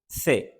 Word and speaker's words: ce: क्या कहते हैं बे से सी को कहते हैं से तो इसकी दो आवाजें हैं इसकी भी हम इस वीडियो के एंड पर बात करेंगे एक से की और दूसरी कफ की तो यहां पर जो